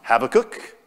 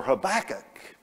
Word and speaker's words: Habakkuk: It could be pronounced Habakkuk or Habakkuk. And since Habakkuk sounded like tobacco, we thought that was really cool, so we went with that one.